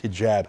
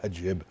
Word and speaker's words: hijab: to cover their faces I love how he mispronounce this hijab haib anyway he he's in